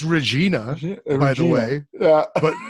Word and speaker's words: Regina: sorry because regina is a dirty crap you know it is